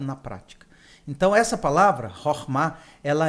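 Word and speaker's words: חכמה: Eu queria que você me ensinasse a pronúncia. É Chokhmah.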